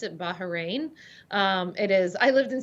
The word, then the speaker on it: Bahrain: the way just so our audience knows you pronounce it bahrain it is i lived in saudi arabia for